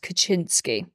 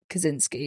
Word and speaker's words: Kaczynski: it's the unibomber um Ted kazinski sometimes pronounced kachinski um which is the original way to pronounce it but K kazinski is how it is pronounced well he's dead so